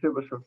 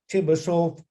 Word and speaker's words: Chebyshev: compare his his name Chebyshev, this the CH, it is a Che, Russian just one letter, as well as SH here, it is also Russian She, pronounced like She, right?